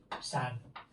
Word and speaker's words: sanguíneos: ponga un título, vasos sanguíneos. ¿Qué es esdrújula? Porque neos no hace diptongo. O sea, las sílabas son gui, ne, os. 1, 2, 3, es la fuerte, eres esdrújula, acento para ti.